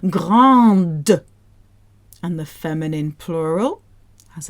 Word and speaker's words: grande: But the feminine version has an E afterwards. So now we have to spit out that D. Grande.